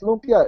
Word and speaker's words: lumpia: they have nothing on lpia it's nothing you know you know it's weird because people keep correcting me like it's Lumia it's lpia it's not Lumia so you know whatever